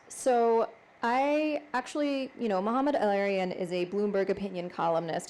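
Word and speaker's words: Mohamed El-Erian: I don't know if I'm pronouncing the name correctly, and you can correct me. Mohammed El-Arian? Mohammed El-Arian.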